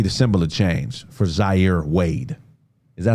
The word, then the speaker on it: Zaire: 12 years old is not old enough to be the symbol of change for Zaire Wade. Is that how you say his name? Uh-huh. No, Zaire's the older son. No, Zaire. Zaya.